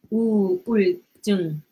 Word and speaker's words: 우울증: So when you read, each word is like this. Each syllable. 우. 우. 울. 울. 증. 증. It's not 증. 증. 증. But when you pronounce it, it's gonna turn into this double G.